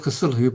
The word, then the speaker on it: Cthulhu: of Cthulhu but and there's many arguments about how to pronounce it but I believe that Lovecraft originally meant the CT part sound and the hulu to be a se it's not th so the sound isn't supposed to be cthulu it's supposed